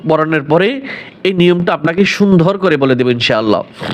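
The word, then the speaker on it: سين: বলে ওভাবে না যা সিন হরফ খুবই পাতলা কিস কিচ পাখির ন্যায় কিচকিস আওয়াজ আসবে এবং তিন আলিফ টান হবে সিন শিন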